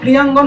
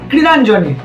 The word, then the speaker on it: ক্রীড়াঙ্গন: যতটা সম্ভব মনে হয় এটা ক্রীড়াঙ্গন হওয়া উচিত ছিল কিন্তু এখানে হয়েছে ক্রীড়াঞ্জন গুজব তারপরে বলছি যে পরিস্থিতি